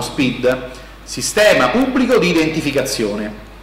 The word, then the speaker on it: SPID: Siccome anche questa non ha avuto grande diffusione, adesso si fa questo SPID, che non è scritto all'inglese con la doppia E, ma è scritto proprio come lo pronunciamo, SPID, Sistema Pubblico di Identificazione, e sarà un PIN universale per tutte le amministrazioni.